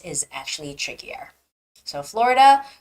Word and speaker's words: Florida: and you would say but in English it's Florida because there's a stress on oh the vowel o so it's Florida Florida